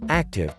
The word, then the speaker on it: ACTUV: continuous trail unmanned vessel actuv pronounced active was originally conceived as